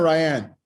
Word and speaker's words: Ryan: How you doing, Ryan? Is it Ryan or Ryanne? Ryan. Ryan, all right. Everybody pronounces it differently because they look at it, but yeah, it's just Ryan.